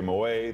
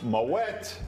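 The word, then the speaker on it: Moët: Most people say Moet. They assume it's champagne. It must be French, so the T is silent. That's incorrect. It's pronounced Moet.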